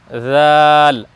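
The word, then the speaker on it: ذ: আমরা প্রথম পর্বে বলেছিলাম যে দুইটি হরফ নরম হবে এই যে তিন নুক্তাওয়ালা সা আর এক নুক্তাওয়ালা জাল উচ্চারণের স্থান একটাই এক জায়গা থেকে উচ্চারণ হবে দুইটি বর্ণ জাল আমরা নরম করে উচ্চারণ করব আর একটি বর্ণের ব্যাপারে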